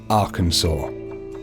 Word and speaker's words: Arkansas: by the government is Arkansas the law states it should be pronounced in three syllables with the final s silent the a in each